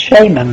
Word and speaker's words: shaman: She was the sage, you see, the mage, the shaman, or I hear it's pronounced shaman these days, but it should be shaman, I think.